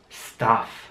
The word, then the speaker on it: stuff: Stuff. Stuff, wie bei study auch, das U wird wie ein A ausgesprochen. Stuff heißt so viel wie Sachen oder Stoff auch.